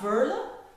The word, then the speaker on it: Veerle: clients are asking the pronunciation of my name. It is Veerle. So not Veerle, like the Americans or the Australians or people from the UK are saying not Veerle like the French ones, it's Veerle. I know it's difficult to pronounce, but it's a typical Flemish name, it's very common in here.